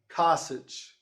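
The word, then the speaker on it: csch: is kind of weird kasich and it rhymes with sausage but that's that's another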